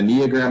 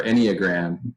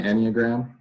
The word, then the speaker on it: enneagram: that uh i'm gonna neogram number three if you haven't done a neogram i would or enneagram i think it's pronounced uh i would definitely